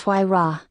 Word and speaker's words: Huayra: The Pagani Huayra, pronounced Huayra, is an Italian mid-engine